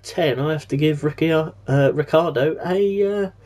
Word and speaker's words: Ricciardo: Daniel Ricciardo of Australia, whose surname is spelt Ricciardo, although he actually says it's Ricciardo, I will take his pronunciation, because if you can't pronounce your own name, then you're in a bit of trouble.